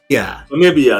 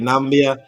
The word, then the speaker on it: Namibia: yeah yeah February 8th so yeah now maybe Namibia Namibia so that is um 1 a isn't that what I just said I'm just messing with you could have cuz earlier I was saying nambia nambia but I think it's just um we